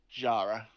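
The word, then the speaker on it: Xhara: name but uh you could just call me jara um it's spelt x-h-a-r-a and then is screw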